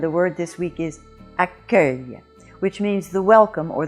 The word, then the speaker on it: accueil: and in the word accueil, you do have the "c" making... you do have the U making the "c" sound hard like a K but in this case the U is silent but it has it